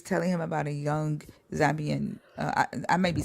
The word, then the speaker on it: Zambian: And she was telling him about a young Zambian.